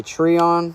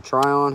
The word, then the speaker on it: Trion: This is a Trion or a Trion, however you want to pronounce that.